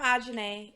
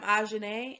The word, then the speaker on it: Ajanae: pronounced my name okay i feel like i added a dna i said janae like that's not my name okay here we go hi i'm ajay and you're watching diverses